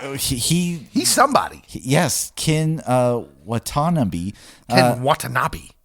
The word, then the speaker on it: Ken Watanabe: Ken Watanabe. Yes, that's a better way to pronounce it.